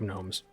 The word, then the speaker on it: gnomes: organic gnomes, but the G is silent, so it's organic gnomes.